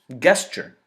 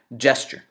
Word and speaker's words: gesture: Even though it's written with a G, it should be pronounced like a J.